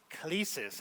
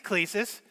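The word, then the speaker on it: κλῆσις: Well, the Greek on vocation is the word klesis, is how I'm pronouncing it. If you're a Greek scholar and you're saying it's klesis, I'll go with you on that. But I think it's klesis, okay?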